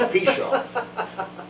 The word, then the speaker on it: Pichoff: And I said, look, the easiest way to remember how to say my name correctly is if you keep screwing it up, you're going to piche me off. So it's Pichoff.